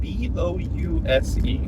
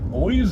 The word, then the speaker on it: Bouse: It's spelled B-O-U-S-E. Yeah, so I mean, Bouse? boys is what I think. Bouse? Because like the E changes the. Changes the O. Why would it change the O? Bose.